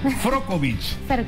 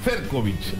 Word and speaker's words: Ferkovic: Y el apellido. A ver. Frokovic. Ferkovic. Ferkovic, ahora sí. Sí, muy bien pronunciado.